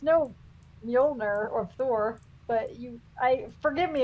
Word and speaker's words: Mjolnir: It's no Mjolnir or Thor, but forgive me if I just mispronounced it.